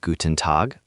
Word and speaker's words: Guten Tag: In Guten Tag, the main stress is on Tag. Say it like one smooth unit, Guten Tag. The N in Guten is quick and light, not heavy.